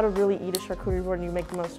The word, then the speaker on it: charcuterie: foreign charcuterie yes that is how you pronounce it charcuterie tasting or charcuterie